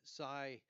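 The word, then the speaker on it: Sia: renter that has uh Sai and that's spelled s AI uh cryptocoin to rent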